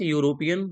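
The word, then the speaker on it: European: ही is dash dash यूरोपियन by birth. ठीक है ना, यूरोपियन, या से प्रोनाउंसिएशन, ए आर्टिकल।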